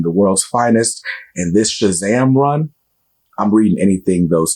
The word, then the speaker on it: Shazam: Comics pull list is Shazam you got to say it like that Shazam issue number seven uh